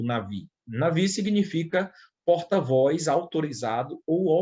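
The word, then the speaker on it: נביא: Ou nabi, né, como está aqui, mas a pronúncia seria navi, que ocorre cerca de 315 vezes na Bíblia hebraica.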